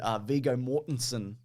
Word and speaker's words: Viggo Mortensen: But the ending of this, though, apparently they wanted Viggo Mortensen, which is how you pronounce his name, Mason.